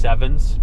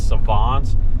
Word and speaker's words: Savons: Uh it looks like it's pronounced sevens, but uh it's Savons.